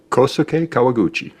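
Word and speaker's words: Kohsuke Kawaguchi: KK Mark say his name for me correctly kosuke kawaguchi thank you because every time I butcher it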